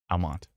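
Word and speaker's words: Almonte: on Twitch sure is oh Al Monte doesn't produce pronounce the E my bad Almont Almont there's like 99 comments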